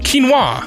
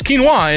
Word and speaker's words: quinoa: Quinoa. Apparently it's quinoa and not quinoa.